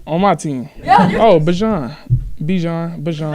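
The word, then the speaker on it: Bijan: Oh, Bajan. Bajan. Right? What is it? It's Bajan.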